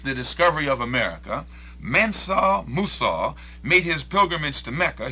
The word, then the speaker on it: Musa: Musa is the Arabic pronunciation of Moses.